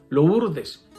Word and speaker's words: Lourdes: persona me corrigió meo padre no se dice Lourdes se dice lo urdes se escribe lo urdes pero es una palabra francesa